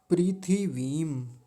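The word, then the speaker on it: पृथिवीम्: थ पर छोटी इ की मात्रा है। छोटी इ की मात्रा जल्दी बोली जाएगी और व पर बड़ी ई की मात्रा है। बड़ी ई की मात्रा थोड़ा लंबी खींच कर बोली जाती है। तो इसका ध्यान रखेंगे। तो शब्द क्या बना? प्रीथिवीम। प्रीथि वीम ऐसा बोलेंगे। ठीक है?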